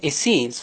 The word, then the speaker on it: Essenes: just to compare the acds with the easternese pronounced as essenes who lived at kumaran hills that is murugan